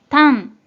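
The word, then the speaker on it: 胆: 먼저 뜻으로는 상용 한자로 사용하는 경우에는 발음이 없고 음으로만 단 이라고 발음해줘요.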